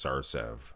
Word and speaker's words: Sarcev: Some people say it's Sarcev. It's Sarcev, I thought.